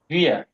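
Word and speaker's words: wir: জি আপনি উচ্চারণ করেন পার্সোনাল প্রোনাউন গুলা। ইস, দু, এর, এস, জি, ভির, ভিয়ার, ভির না, ভিয়ার, ভিয়ার, ভিয়ার, ভিয়ার।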